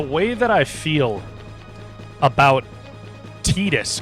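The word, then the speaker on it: Tidus: The way that I feel about Tetus, cuz that's how his name is supposedly pronounced.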